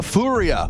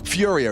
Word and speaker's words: FURIA: MP9 they're doing the fua or Furia if you want to say it correctly you make sure you pronounce all those letters yeah every single one f squirly f glorp